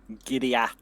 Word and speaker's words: Gilead: You're from Gilead. Yeah, we're from that place. Giddy- Do they have a lot of horses? Gilead, not Giddy Up.